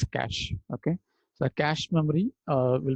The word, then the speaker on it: cache: We pronounce as cache.